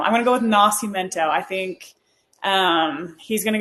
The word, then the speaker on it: Nascimento: Okay, I wasn't sure how to pronounce this guy's name, but it's Nascimento.